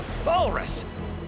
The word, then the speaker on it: Thalrus: If so, I call it the Thalrus. It rhymes with walrus.